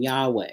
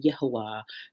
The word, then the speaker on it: Yahweh: So um you'll hear me uh use the name Yahweh. You'll hear me use the name Yahwah. you'll hear me use those pronunciations just simply because I'm